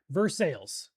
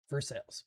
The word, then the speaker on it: Versailles: Vers sales. Okay, thank you guys. Versailles. Perfect. You guys are awesome.